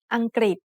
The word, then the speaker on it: อังกฤษ: the initial consonant กอไก่ the vowel รึ pronounced as ริ Together they make the sound กริ like a consonant cluster กอไก่ and รอเรือ with the vowel สระอิ Then the final consonant สอฤาษี makes a T-stop.